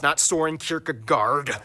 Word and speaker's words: Søren Kierkegaard: That's actually how you pronounce his name. Wow. Søren Kierkegaard.